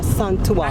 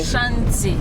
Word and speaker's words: Ashanti: Ashanti. Okay. That's Ashanti in English. When you want to mention it in tree, it's Asante. Yes, okay. I've heard people say Asante. Asante. That's in tree.